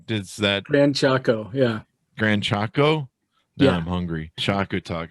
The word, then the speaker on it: Gran Chaco: audience we just lost the uh rayo people grand cacho does that man choco yeah gran chaco yeah i'm hungry choco talk is a taco